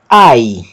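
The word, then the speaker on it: αι: é o ditongo áudio foi horta que se pronuncia ai ai e aqui abaixo nós temos uma palavra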